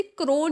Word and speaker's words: krone: तो क्रोन को हमें यहाँ पे हमने क्या करा है, KRONE स्पेलिंग होती है, बट हमने उसको क्रोन से यानी कि ताज से डिफाइन कर दिया है। प्रोनाउंसिएशन सेम है तो आप इजीली समझ सकते हैं।